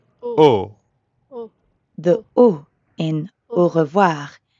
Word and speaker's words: au: Try to hear the difference between an English O, versus the French ou. Au.